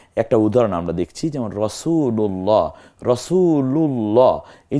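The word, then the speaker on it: رسول الله: তাসদিদ হলো মিলিয়ে পড়ার রাসূলুল্লাহ তাহলে এই যে রাসূলুল্লাহ বলতেছি এই লা না বলে রাসুলুল্লাহ বলছি না রাসুলুল্লাহ লা এই আল্লাহকে পাতলা উচ্চারণ না করে গাম্ভীর্যের সাথে মানে মোটা করে পড়ছি এটার কারণ কি আল্লাহ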